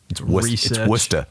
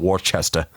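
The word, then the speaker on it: Worcester: __ ] kills me do your research Wester not Worchester Worchester there a really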